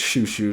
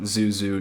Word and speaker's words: Shushu: turner mary turner yeah apparently i've been saying it wrong the entire video uh so it's shushu not zuzu not zoizawi anyway this song like many